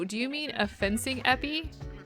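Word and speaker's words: épée: It's pronounced epi.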